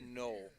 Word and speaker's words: Noel: Hunter Noel is just kind of giving me I think it's pronounced Noel. Noel? Yeah, Noel. Okay.